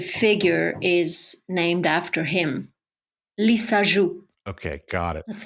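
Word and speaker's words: Lissajous: a lisu figure okay it's a French name a French scientist he found out a way to visualize a soundwave so the figure is named after him lisu okay got it that's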